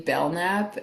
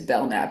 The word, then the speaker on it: Belknap: I have an Instagram and it's called Lily Bellnap and my middle name is Bellnap actually and it's spelled like B E L K N A P.